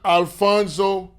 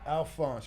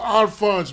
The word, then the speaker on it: Alphonse: Alfonso, right? Alphonse with a silent E on there. Oh, Alphonse.